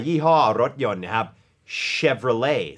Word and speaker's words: Chevrolet: รถ ยนต์ นะ ครับ Chevrolet ซึ่ง ตัว T ไม่ ออก เสียง นะ ฮะ เพราะ ว่า